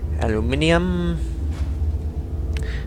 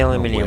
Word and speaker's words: aluminium: Aluminium. I know it's spelled aluminum, but as I said before, I'm Australian. We say aluminium.